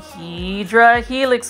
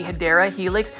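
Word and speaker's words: Hedera helix: right here and some HRA Helix guys or you know what um the right pronunciation would be hia Helix that is an English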